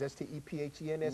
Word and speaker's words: Stephens: Spells like Stevens, S-T-E-P-H-E-N-S, but it's pronounced Stephens.